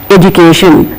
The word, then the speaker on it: education: in the final position education e d u c i t i o n here we have the suffix Shan so we are showing it as sh education this is how we